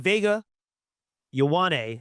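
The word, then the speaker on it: Vega Ioane: Um, I mean, Vega Yane out of Penn State the guard.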